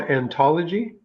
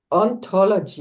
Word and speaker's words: ontology: You said it's called anthology. Ontology, yeah.